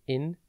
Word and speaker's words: incredulous: It is pronounced incredulous and spelt I-N-C-R-E-D-U-L-O-U-S. Think in, cred, the letter U, and then lus.